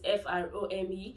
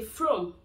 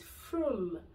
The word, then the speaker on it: Frome: spell it, which is F-R-O-M-E. So a lot of people just say Frome. No, it's not. It's Frome. Frome. It's not Frome.